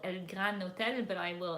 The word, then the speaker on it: Gran Hotel: It's called El Gran Hotel, but I will. And it's not spelled like grand with a D. It's just Gran Hotel.